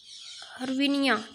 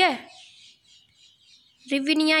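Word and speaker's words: гривня: हर्विनिया. ठीक है, रिविनिया या फिर हर्विनिया, इस तरह प्रोनाउंस करते हैं इसको. ठीक है, रिविनिया भी बोलते हैं.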